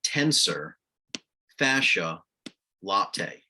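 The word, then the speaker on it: tensor fasciae latae: You have to know it stands for tensor fascia latae, or lata, depending on how you pronounce it.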